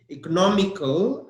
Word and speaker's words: economical: tell you one thing economical again the stress is on an O economical nama comb and the